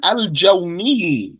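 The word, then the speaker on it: الجَوْني: Nahwu such as mine together such as Abu Imran al-Jawni al-Jawni such as Abu Imran al-Jawni bi fat-hil jim with a fatha on the jim and a sukun on the waw.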